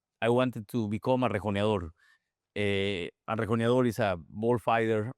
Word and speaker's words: rejoneador: He's known for being a rejoneador. How do you say it? Rejoneador.